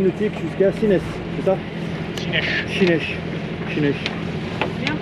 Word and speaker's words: Sines: Chinèche. Chinèche. Bien prononcé, José. Chinèche. Ah, comment José, tu dis c'est prononcé, non? Prononce bien Chinèche, José.